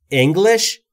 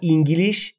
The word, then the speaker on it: English: یعنی یاد گرفتن لرن Eng انگلش و نه انگلیش یا هر چیز دیگری